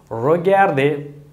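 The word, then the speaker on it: regardez: இனி முடிஞ்சளவுக்கு இந்த ரிகாதே என்பதை பாவிக்க நீங்கள் முடிஞ்சளவுக்கு என்ன துப்புரவாகவே நீங்கள் பயன்படுத்த வேண்டாம். நான் என்னுடைய பகுதி ரெண்டு வீடியோவில் சொன்னது போல் தயவுசெய்து பயன்படுத்த விடாதீர்கள். சொல்லுங்கள், நீங்கள் செய்கிறது பிழை, சரியான உச்சரிப்பு அல்ல, இவ்வாறு சொல்லுங்கள் என்று. இவ்வாறு ரொகார்தே.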